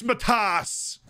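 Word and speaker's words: Matthäus: mad house felix mathaus felix matthas that's uh that's the appropriate pronunciation page for cures it's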